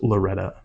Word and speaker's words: Loretto: disil out there in Loretto Kentucky uh it EXC me did you say Loretto yes it's pronounced Loretta there's a song Loretta but anyway I spelled